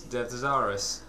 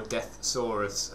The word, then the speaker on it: Deszaras: Decepticons in that series is death zarus or death saurus however you want to spell it or pronounce it I will say Des zarus cuz it sounds much